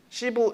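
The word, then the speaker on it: 師父: 스승사자를 써. 시부 이렇게 발음을 하는데 사부라고 불러.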